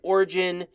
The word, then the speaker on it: Origin: Some people think they should change the name because, I understand the G in Origin is a soft G.